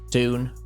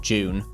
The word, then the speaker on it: Dune: writer and actor strikes dun or June depending on how you pronounce it is set to come